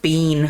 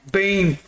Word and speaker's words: Biehn: Michael Bean, homie. Is that how we say his name? Bean.